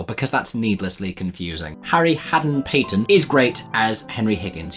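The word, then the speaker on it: Hadden-Paton: Oh, I always get his name wrong. I always end up calling him Harry Hatton Gardens, which I'm pretty sure was a heist. I need to Google this. Haden-Patton.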